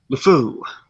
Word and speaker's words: LeFou: Anyways, then we have Josh Gad as Lufon. Which we've already discussed is like or LeFou. How do you pronounce it? LeFou. Yeah.